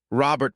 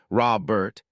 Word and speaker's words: Robert: The way she said Robert with emphasis on the first syllable, Robert, instead of the more common Robert.